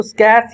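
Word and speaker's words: scarce: होता है स्का स्क इसको स्कस या स्का प्रोनाउंस करते हैं स्कस करेक्ट प्रोनंसिएशन उसके बाद सेवरल फ्यू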